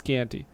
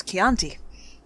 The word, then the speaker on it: Chianti: With some fava beans and a nice Chianti. It's Chianti. Well, damn Anthony Hopkins not knowing how to pronounce stuff.